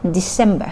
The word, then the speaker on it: December: เ สี ย ง เ ป็ น sem December น ะ ค ะ โ อ เ ค